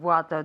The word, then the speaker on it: water: How many bottles of water do you have? Water, como con una O, water.